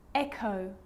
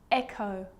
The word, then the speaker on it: echo: The H is silent. So it's choir, choir, echo, echo.